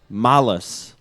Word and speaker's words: Malas: You pronounce it. You're I'm so Alex from Malas. Malas.